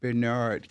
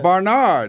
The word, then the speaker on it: Bernard: I can't say, I have to say it just like Bernard want me to say, Bernard King. Because I say his name like this, you know, like down south. Yeah. Barnard, hey.